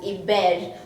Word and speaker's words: Iber: written as iber and in the native lua language iber is pronounced as a bell which means you're good so i think albert